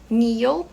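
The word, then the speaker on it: kneel: joelho k n e e Outro exemplo é Neo que é ajoelhar a tem mais o l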